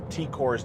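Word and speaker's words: T'Kor: Someone commented on that, my pronunciation of Tikor's name. The T apostrophe K-O-R often means pronounce the T as like a T sound, not a T.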